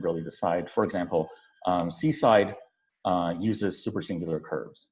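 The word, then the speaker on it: CSIDH: so this uh this one is pronounced seaside um or at least it is so pronounced by the authors of this game and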